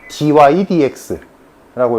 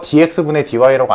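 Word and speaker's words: dy/dx: 읽는 법 dy dx라고 읽어. dx dy라고 안 읽는다. dydx라고 읽고 그럼 요거식이랑 똑같은 거야.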